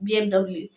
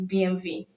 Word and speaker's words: BMW: BMW. That's the way we pronounce it. Not knowing that it's BMV.